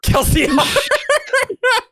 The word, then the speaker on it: Kelsier: Kelsier. The best pronunciation.